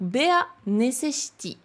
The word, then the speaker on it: ベア・ネセシティ: le titre anglais, mais la prononciation, c'est bien B-A, plus loin, né, C, chi. Et là, on a un grand T avec un petit I, ça fait ti. Donc, Bea necessity.